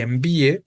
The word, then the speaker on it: envíe: Vean aquí como cacatúa, amnistía y envíe, las tres palabras son graves, ¿no? Las tres palabras tienen su sílaba tónica en la penúltima y terminan en vocal, pero aún así le estamos colocando el acento, justo por esta cuestión